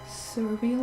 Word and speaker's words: Surveil: Surveil, like survey and reveal.